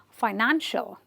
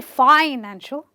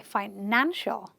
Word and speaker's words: financial: Again, the suffix is the one ending with the ial, but I will stress on the syllable before it and say financial. I won't say financial. I'll say financial.